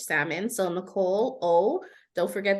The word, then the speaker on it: Salmon: Nicole yeah so you my last name is spelled just like the fish salmon so Nicole oh don't